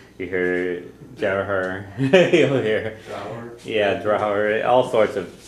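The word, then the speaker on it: deartháir: Okay, so most often I think I hear the R's put next to the D's when it's pronounced, but you'll hear Drahar, you'll hear Drar, you hear Jarhar, you'll hear Drahar, all sorts of pronunciations.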